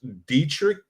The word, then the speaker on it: Dietrich: Because we've got an interview that was conducted by Lieutenant Commander Alex, and I might say her name wrong, but it's Alex Dietrich.